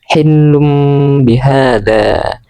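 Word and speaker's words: حِلٌّۢ بِهَٰذَا: Tulisannya hill bihadza. Hillun bihadza. Cara membacanya hillum bihadza.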